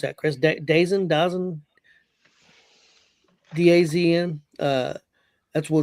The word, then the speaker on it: DAZN: How they pronounce that, Chris? Dazn.